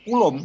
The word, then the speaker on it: Coulomb: Nah, kita bahas yang pertama yaitu terkait dengan hukum Coulomb ya, hukum Coulomb ya bacanya, dan gaya listrik.